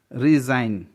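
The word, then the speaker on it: resign: रिज़ाइन, जी के बाद एन है इसलिए जी का प्रोनाउंसिएशन नहीं हुआ है, जी साइलेंट है.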